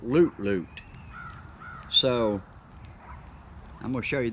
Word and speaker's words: Lut Lut: you this is spelled l-u-t-l-u-t and i would have called that lut-lut but i've watched his videos and he calls it loot loot so i'm gonna show